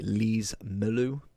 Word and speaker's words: Lees-Melou: Today we are looking at what if, I want to say Lees-Melou, could be absolutely butchering that.